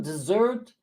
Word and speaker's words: dessert: where is it uh dessert desert desert this one dessert is the uh accent is on the last syllable dessert goes up at the end whereas this one here